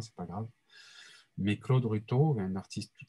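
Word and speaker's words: Rutault: Ça s'écrit comment ? A-R-U-T-A-U-L-T. L-T-A-U-L-T à la fin. Ruto. Claude Ruto. C'est très particulier, Ruto.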